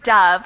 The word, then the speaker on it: dove: good pron iation so the first one is dove with an uh sound and what did you